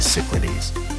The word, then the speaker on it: Cyclades: of the Greek island chain we call the Cyclades. Or, if you prefer the Greek pronunciation, the Cyclades.